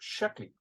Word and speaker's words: Sheckley: His name was Robert Sheckley, and I hope I got pronounced his last name correctly.